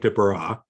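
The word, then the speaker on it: Desbarats: His name is Nick DeBara. That's the way it's pronounced. It's spelled Des Barrett's.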